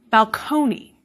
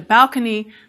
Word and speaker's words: balcony: English borrowed the word from Italian in the 17th century, and it was initially pronounced balcony. But because many words in English and other Germanic languages put the stress on the first syllable, the stress in borrowed